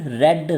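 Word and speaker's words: read: ये English grammar का rule आता है कि अगर बी वर्ड लग जाए और उसके साथ रीड दिया हो तो उसकी प्रोनाउंसिएशन चेंज हो जाएगी। उससे फिर हम third form of the verb के तौर पर प्रोनाउंसिएट करेंगे, यानी रीड, रेड, रेड। First, second और third form of the verb आपको मैंने बोल ली है। तो अभी रीड को हमने रेड बोलना है क्योंकि उससे पहले बी लगा हुआ है।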